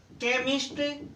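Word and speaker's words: chemist: हुआ है H silent जब भी किसी शब्द में सी या डब्लू के बाद एच आए तो एच साइलेंट होता है केमिस्ट क्रिस्मस क्राइस्ट वीट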